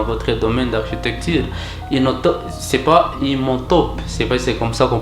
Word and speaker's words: Imhotep: C'est pas Imhotep, c'est comme ça qu'on prononce même les noms, un génie égyptien.